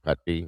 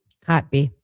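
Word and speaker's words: Kotb: I want to jump to the interviews that Savannah did with uh Hoda Katy. Is that how you say her name? Hot.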